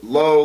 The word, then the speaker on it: Loe: Everybody wants to go low like the store or like Roblo.